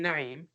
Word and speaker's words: Naim: As you can tell, I pronounce my name Naim. Noon, Ain, Ya, Mim, in Arabic alphabets.